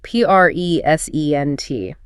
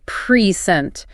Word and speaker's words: present: If I emphasize the first syllable, I say present. The vocal weight drops on the p. That makes it a noun, a gift. The team gave me a beautiful present or an adjective relating to time. We must focus on the P reent. But if you shift your diaphragm, push just a fraction of a second later and hit the second syllable present, it becomes a verb, an action.